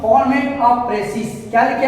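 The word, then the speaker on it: précis: बहुत विद्यार्थी इसको बोलते हैं प्रेसिस, बहुत बोलता है इसे प्रेसाइज, बहुत बोलता है कुछ से कुछ बोलता है, ठीक।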